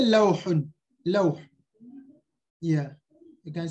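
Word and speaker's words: لوح: You can say lawhun, lawh.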